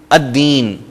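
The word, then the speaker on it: الدين: الف لام آتے ہوئے لام سائلنٹ ہو جائے گا، اور جو ہی ہم بول رہے ہوں گے تو لام کو ہم پروناؤنس نہیں کریں گے، جیسے میں نے آپ کو مثالیں دے دیں، الشیطان، الرجیم، الدین۔ دوسرے حروف ہم ان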